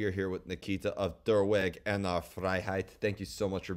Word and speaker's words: Der Weg einer Freiheit: How did I do on the pronunciation? Quite all right, yeah. It's Der Weg einer Freiheit, but yeah.